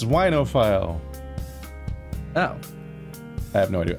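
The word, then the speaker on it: oenophile: it's NFL is wine but I don't know unophile you've got it that's actually how it's pronounced it's whinophile oh I have no idea I know this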